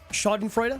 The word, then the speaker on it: Schadenfreude: Schadenfreude? Yep. I have to have Gabe say it because I don't know how to pronounce it.